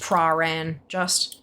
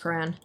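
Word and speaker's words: Prahran: I have never heard it pronounced Praran. I've only ever heard it pronounced Paran.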